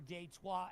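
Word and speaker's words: Detroit: And then also, if that doesn't sound right, I have love for Deto as well. That's the French pronunciation.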